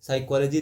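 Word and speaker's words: psychology: इन the word साइकोलॉजी साइकोलॉजी देखिए पी नहीं साइकोलॉजी नहीं पढ़ रहे हैं यहां पे पी साइलेंट है ना तो साइलेंट वर्ड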